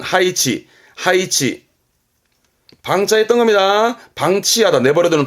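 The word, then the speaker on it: 配置: 했던 거 배자, 배치하다입니다. 발음은 하이치.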